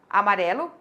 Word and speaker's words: amarelo: a ficar um estranho porque eu forcei um acentuação tônica da palavra amarelo que na verdade o acento tônico dela é na sílaba pré amarelo e a gente coloca